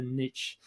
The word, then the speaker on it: niche: is severely curtailed by the niche or the niche I like to say um I think Americans say Niche which I find very unusual but we're going to say Niche it means the same thing we say n we'll stick to Niche I like so so